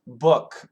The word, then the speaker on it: book: a good question uh double O We have basically two pronunciations we can say ooh and we can say uh ooh and uh so